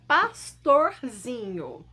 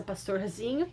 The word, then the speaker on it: pastorzinho: A palavra pastorzinho. Pronunciem em casa pastorzinho e sintam qual é a sílaba mais forte. Descobriram? Vamos lá. Pastorzinho. Nesse caso, a sílaba tônica mais forte é o zi.